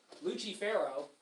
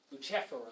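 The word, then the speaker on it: Lucifero: three fig Lucifer lucher luchero is how you would say his name in Italian luchero I suppose and you can see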